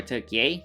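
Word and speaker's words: Türkiye: Turkish flag right there or took yay that's how they would like to pronounce it I think they're now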